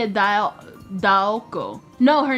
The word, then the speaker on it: Daoko: Why do you say Dayako? Say it Daoko.